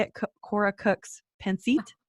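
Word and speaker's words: Pancit: um how do you say it Kora Cooks penit panit yeah yeah penit and that's a Filipino dish yes what so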